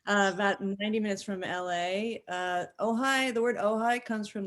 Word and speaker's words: Ojai: It's pronounced Ojai first.